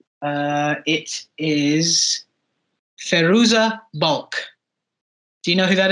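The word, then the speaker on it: Fairuza Balk: or water boy I think I want to pronounce her name right uh it is feruza bulk do you know who that is the name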